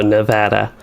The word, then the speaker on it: Nevada: finally got to that it sounds like like data but vada so nevada that took me way